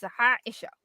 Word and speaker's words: Haisha: There is no English equivalent to the first letter of my name. My name is Haisha.